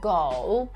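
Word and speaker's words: 狗: Czasami niektórym myli się wymowa psa. Ja zawsze tłumaczę to uczniom tak, że jeżeli ma się psa go, no to trzeba z nim na spacery go kilka razy dziennie, prawda? Można sobie skojarzyć to z angielskim słowem iść. Dlatego łatwiej jest zapamiętać wymowę właśnie słowa pies, czyli go ju świnia.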